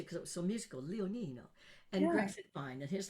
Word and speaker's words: Leonino: almost years ago, um my last name is beautiful, Leonino. Little lion, Leo Nino, but I didn't want to change it because it was so musical. Leonino and Greg Mine and